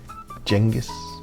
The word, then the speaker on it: Genghis: Most people have it completely wrong. Except really it should be Chinggis, but it's a bit pretentious so I don't say it.